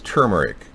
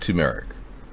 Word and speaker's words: turmeric: ability to yeah it's yeah it's turmeric not turmeric right turmeric powder turmeric powder